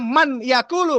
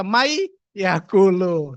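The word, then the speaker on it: مَنْ يَأْكُلُ: Tulisannya man yaakulu. Kenapa membacanya may yaulu?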